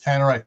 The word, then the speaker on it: Tannerite: r i t e I thought was t or tanate I'm looking I'm looking at the way they differ ways it's spelled here so Tannerite works well Tannerite everyone says Tannerite that way uh oh it's